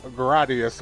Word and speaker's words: Gradius: So uh so I'm going to start with uh Graius Origins which although I should be saying it correctly. Gradius Origins.